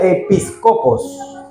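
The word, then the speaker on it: ἐπίσκοπος: mete aparece etimológicamente que proviene del griego y que se pronuncia episcopos que traducido a nuestro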